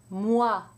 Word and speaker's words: moi: OI is almost always pronounced wa in French, except when it's followed by an N, in which case it's pronounced loin. Let's do some words. Moi. Toi, soi, voix, joie, and with an N, moins, foin, loin.